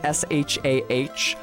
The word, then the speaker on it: Shah: me, but it's because to most Americans, those would be pronounced identically. Shaw. It's just that I have an aw, so that's why it's Shaw versus Shah to me.